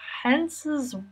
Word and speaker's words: Hans: Okay, Hens's wife's name is Layla, but I think it's Lila how they say it. So it's Hens and Lila instead of Hans and Layla, which is what I thought it was.